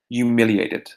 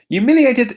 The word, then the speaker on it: humiliated: one more time humiliated notice that the H is silent it's never humiliated it's just humiliated humiliated is an adjective it